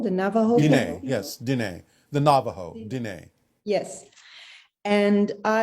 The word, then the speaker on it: Diné: I've gotten a book about a medicine woman from the I hope that I pronounce this right, the Diné people, the Navajo Diné, people. yes, Diné.